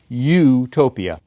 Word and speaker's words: utopia: In English, we would pronounce E-U-T-O-P-I-A, utopia. In Greek, that would be eutopia, or eutopos, a good place. There would also be the word O-U-T-O-P-O-S, meaning no place in Greek, and in Greek that would be pronounced utopos. Eutopos and utopos, good place and no place. To an English reader, they both become utopos.